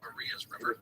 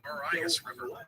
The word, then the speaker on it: Marias River: In this episode, I refer to Maria's River, which is in Montana, as the Marias River, which is wrong. It's Maria's River, and it was just a dorky mistake.